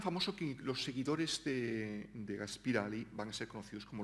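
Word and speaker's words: Gaspıralı: Gaspirali era un intelectual. Lo intento pronunciar en turco, porque sabéis que tienen esa i que carece de punto, ¿no? Y que es una especie de ü.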